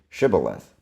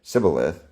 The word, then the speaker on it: Shibboleth: And when he said, "No," they said to him, "Say Shibboleth." And he said Sibboleth, for he could not pronounce it right.